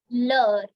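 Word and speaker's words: heure: Next feminine word is leur. Again, leur. You have to just cut down the H and you have to pronounce it L-E-U-R-E.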